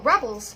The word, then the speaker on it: rebel: Okay, so the first one there is a verb, and the second one is a noun.